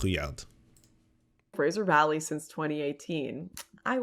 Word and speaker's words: Rouillard: Jacques Rouillard, by the way, is how you pronounce the last name. It's R-O-U, that means the Rue, and then the R-U-O-I, the Rouillard, so Jacques Rouillard.